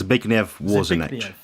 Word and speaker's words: Zbigniew Warzenek: So do you know how it's pronounced? It's Zbigniew Warzenek.